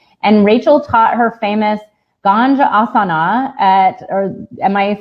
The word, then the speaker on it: Ganjasana: And Rachael taught her famous Ganjasana or am I saying it right? Yes, Ganjasana.